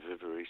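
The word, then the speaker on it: Viverie: How do you spell that? It was on Vivery, V-I-V-E-R-I-E, Vivery, something like Who that.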